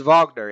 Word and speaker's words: Wagner: film about the composer Vagner who is spelled Wagner but it's vogner is it Lawrence Olivier